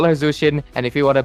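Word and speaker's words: Zhuxin: But overall, you don't need to pronounce her correctly, but don't call her Zuxin. It's not K, guys. Come on, it's not Zuxin. There's no Zuxin, guys. It's call her Zushin, and if you want to be oral farming,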